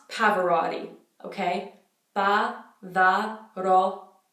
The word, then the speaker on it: Pavarotti: so for his last David's Parvati Parvati not Pavarotti okay bah bah but all t that all